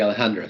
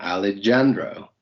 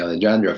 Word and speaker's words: Alejandro: And the good thing is that before the song came out, a lot of people would pronounce my name Alejandro with a J. And so that was really common, Alejandro.